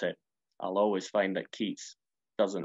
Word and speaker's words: Keats: and good you know the name keats doesn't rhyme with geeks life is admittedly sometimes